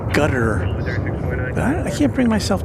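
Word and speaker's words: Qatar: guess I've heard that the correct pronunciation for katar is sounds more like gutter but I can't bring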